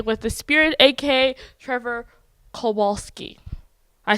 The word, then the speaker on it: Kowalsky: Hi, my name is Esosa Oghide with What the Falcon, and I'm here today with the Spirit, aka Trevor Kowalsky.